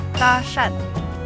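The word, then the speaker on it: 搭讪: ナンパをえっと中国語で言うとダシャンダシャンって言いますダシャンはいこの発音ってやめとくわ何何何いや私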